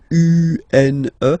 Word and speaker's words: une: Then the feminine article is here, and it's easier because if you have this U-N-E, then you pronounce it une, une.